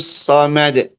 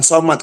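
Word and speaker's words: صمد: Qul huwallahu ahad, ahad, Allahus samad. Bukan ahad, bukan somad.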